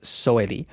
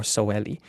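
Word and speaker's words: soweli: Also, stress is word initial always. So this word is always pronounced sitelen, and this word is always pronounced soeli, not sitelen or soeli.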